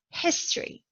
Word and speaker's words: history: in the noun category history the stressed syllable is the first syllable historical historical is an